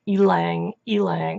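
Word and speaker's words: ylang-ylang: the flowers of the tree and it is pronounced Alang Alang with the infamous emphasis on the e so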